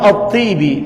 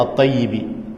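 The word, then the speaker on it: asy-Syathibi: Islam persis seperti lelaki Imam attibi rahimahullahu taala sebagian orang yang keliru membacanya atibi Ibi rahimahullahu taala mengatakan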